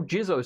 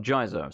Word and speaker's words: Jizo: you get a bundle Jizo statue here yes it's apparently actually pronounced jeers oh not Jesus so it seems weird